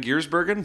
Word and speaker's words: Giersbergen: When you work with guest musicians like Anneke van Giersbergen... Nice. She actually taught me how to pronounce it. Anneke van Giersbergen?